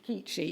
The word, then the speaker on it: Keachi: she was known as, it's pronounced, is it Keachi or Ketchi? Steve? I think it's Keachi. Keachi, yes, it's Keachi. Which in Malay, if you speak Malay, it means small.